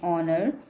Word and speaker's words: honor: For example, an honor, an hour, an honest. Now here the H is mute, it is silent.